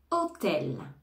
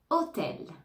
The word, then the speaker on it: hôtel: photo photo photo photo hôtel hôtel hôtel hein ici on ne prononce pas le H du mot hôtel image image image industrie